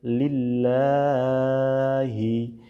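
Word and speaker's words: لِلَّهِ: আততাহিয়াতু লিল্লাহি। এইযে দেখুন এখানে এক আলিফ টান আছে।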